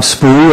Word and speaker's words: Spoo: is Bob spoo uh it's spelled SPO and I'm the head football coach